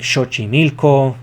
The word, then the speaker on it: Xochimilco: The X in the Nahuatl language is pronounced sh, so Lake Xaltocan, Texcoco, Lake Xochimilco, and Lake Chalco.